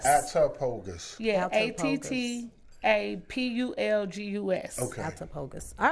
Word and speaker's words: Attapulgus: September 26th in Attapogus, Georgia.